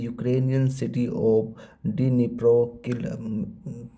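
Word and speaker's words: Дніпро: the Ukrainian city of D Dnipro I think D Dnipro ही पढ़ा जाएगा जो डिस्म में साइलेंट है तो निप्रो पढ़ा जाएगा क्योंकि सिटी है तो कंफर्म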